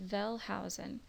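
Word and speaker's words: Wellhausen: of the documentary hypothesis velh Housen vhen's name is written with a W his last name uh but pronounced with a V so Jehovah's consonants are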